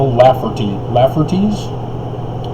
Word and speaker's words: Lafferty: And apparently there was this family called the Laffertys. Am I pronouncing that right?